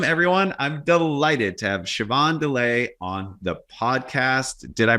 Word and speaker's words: Siobhan Dullea: I'm delighted to have Siobhan Dullea on the podcast. Did I pronounce that correctly, Siobhan?